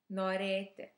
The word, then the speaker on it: norėti: And today you will learn how to say the word norėti.